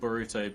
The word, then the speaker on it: Boruto: Stardust Idiots just said Naruto's son is called Boruto because in Japanese you can kind of pronounce it like Bolt or Bort.